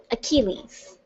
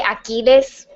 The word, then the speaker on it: Achilles: Achilles. I feel like I want to say Achilles because that's how you say it in Spanish, but I think it's Achilles. Yeah, I'm going with that.